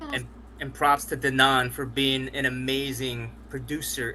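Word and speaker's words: Denaun: How do you pronounce his name? Denon Porter, Mr.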